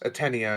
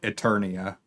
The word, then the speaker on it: Atenia: yes, Atenia, I believe is how they pronounced it. I kept reading it Eternia, and I'm not sure Yeah.